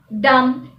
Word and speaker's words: dumb: Now for the rule when the letter B is not pronounced when it comes after an M. For example, comb, womb, tomb, plumber, thumb, dumb.